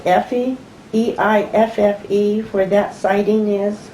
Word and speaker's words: Eiffe: Do you know, happen to know, now Connie tells me it's pronounced Effie, E-I-F-F-E, where that sighting is? Ivy.